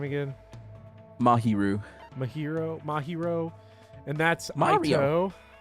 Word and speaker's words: Mahiru: Mahiru.